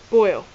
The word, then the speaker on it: Boyle: just a coincidence that his last name is pronounced boil like said suspicious green liquid so